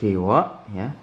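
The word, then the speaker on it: では: Nah, di sini, pengucapannya bukan "DH" tetapi "dewa." Dewa, atau "ja", atau "ja arimasen."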